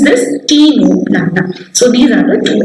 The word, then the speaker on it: Ctenoplana: How to pronounce this? Ctenoplana.